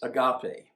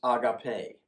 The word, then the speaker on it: agape: And then there is agape, or what I've also heard pronounced agape.